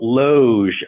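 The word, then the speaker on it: Logue: and his speech therapist, Lionel Loge, I think is the way it is correctly pronounced.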